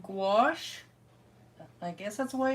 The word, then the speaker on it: gouache: to play around with these today they're called gouache I guess that's the way you pronounce it it's the way I've always pronounced